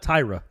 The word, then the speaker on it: Tyra: tyra you know what tyra yeah if everyone's gonna learn your name we're not gonna we're not gonna pronounce it the right way it's tyra thank goodness i couldn't